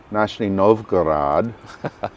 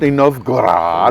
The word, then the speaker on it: Nizhny Novgorod: So next I want to get to Nizhny Novgorod. Yeah. Did I say it right? You said it right. Nizhny Novgorod.